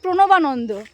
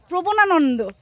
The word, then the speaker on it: প্রণবানন্দ: ওর স্কুলের নাম হচ্ছে প্রণবানন্দ, আর ও বলবে হচ্ছে প্রবনানন্দ।